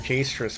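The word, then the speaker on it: Jstris: Also, yeah, everyone pronounces it Jastris, but I think the reason why it's named that is because it's JS-tris, isn't it? As in JS as in the programming language, because that's how people tend to name things.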